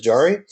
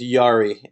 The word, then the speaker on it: Jari: jari hello I'm fine actually I'm saying your name wrong and I apologize it's Yari and uh Yari it's good yeah it's a Finnish name excellent love it yeah